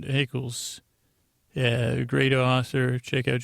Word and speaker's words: Eccles: Jennifer Eccles rhymes with freckles. Why'd I say Nichols? Eccles.